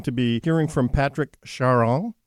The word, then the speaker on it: Charon: With John Kullmann, and we're going to be hearing from Patrick Charon. That's the French pronunciation of his last name.